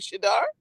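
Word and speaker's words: Shedeur: tennis player's name but you can't you can't pronounce a simple name like shadar sadar thank you Mo that's all you had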